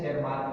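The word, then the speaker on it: Tschermak: और सेकेंड जो Irwin शेरमार्क, Irwin जो है इरविन शेरमार्क, टी इसमें साइलेंट है, शेरमार्क में देखिएगा, तो इरविन शेरमार्क सेकेंड जो साइंटिस्ट थे ये ऑस्ट्रिया के ही थे।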